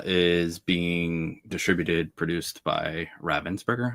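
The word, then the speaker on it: Ravensburger: So, Lorana is being distributed produced by Ravensburgger, I believe is the correct pronunciation, not Ravensburgger.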